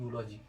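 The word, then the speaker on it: eulogy: क्योंकि इसका जो प्रोनाउंसिएशन होता है वो होता है यूलॉजी, यू का साउंड होता है जे, और जे के पहले लगता है ए।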